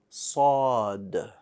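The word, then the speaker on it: صاد: It's pronounced with your teeth somewhat clenched and the back of the tongue, or the tongue is behind it.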